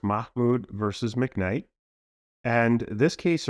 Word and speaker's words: Mahmoud: this lawsuit sure so the the case is pronounced Mahmoud versus McKnight and this case originated out of